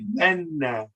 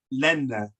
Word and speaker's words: lenna: So you wouldn't separate those two as la and na. You would say lenna, lenna. You make sure the N is pronounced on the left and the right. Lenna, lenna.